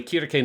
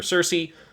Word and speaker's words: Circe: Kirke, which is also the Japanese pronunciation they use. Yeah. Obviously, it's common in English that people call her Circe.